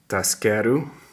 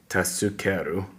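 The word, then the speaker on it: 助ける: That's how they pronounce. Taskeru, usually it's supposed to say tasukeru, but it's actually taskeru.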